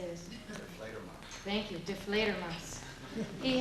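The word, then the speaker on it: Die Fledermaus: Deflator Mouse.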